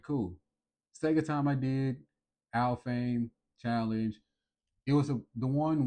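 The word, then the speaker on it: Alfheim: And that's this place called Al Fame. Yes, I did look up how to pronounce it.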